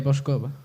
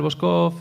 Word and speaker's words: Voskov: Lo de Boscov? Depende. Alí no pueblo onde ensallamos en Muro sería a capital boscov e se vamos un